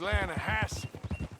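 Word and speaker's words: Lannahechee: trout you mean the lanahashi river no no no no no the the latter hatch it runs right near here yeah but it's pronounced land hassle why is everything in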